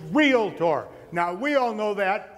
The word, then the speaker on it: realtor: by a mile realtor's the word is not real it or it's real tour now we all know that in here but